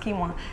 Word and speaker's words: quinoa: quinoa it looks like it's a quinoa it's pronounced quinoa that again is very easy to digest and